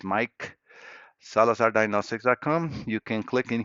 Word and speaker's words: Maic: Yeah, my name is spelled MAIC and sounds as Mike.